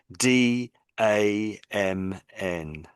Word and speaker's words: damn: So I So we in in English we say damn.